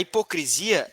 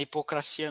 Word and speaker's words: hipocrisia: A hipocrisia é o grau mais alto da. Se escreve hipocrisia, tá? Não é hipocracia, não.